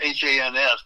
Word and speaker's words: Hans: It's H-A-N-S, but it rhymes with chance.